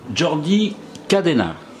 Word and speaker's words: Jordi Cadena: Jordi Cadena. Hein, on prononce comme ça en espagnol?